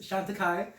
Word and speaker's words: Chantecaille: So I know it looked weird how it's pronounced Chantecaille. I would have been like, JDAWG would have been Chantecaille-Le.